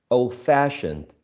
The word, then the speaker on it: old-fashioned: if you prefer um whenever you have a compound adjective you stress the second element on the first syllable tampered the second element on the first syllable fashioned okay bad tempered old-fashioned okay